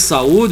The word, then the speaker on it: saúde: Como se trata de 2 vogais, teremos nesse caso duas sílabas distintas. Então, veja bem, quando eu vejo saúde, eu estou vendo o A e o U junto.